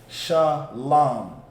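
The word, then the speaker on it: שלום: So you would just say Sha. Now there's a connector underneath the other two, which go from one to the other. That connector means those two characters are pronounced together. So that one middle character is La, and the one at the end is Ma. So now that we have that connector, it becomes Lam, because it's pronounced together. Lam, Shalom.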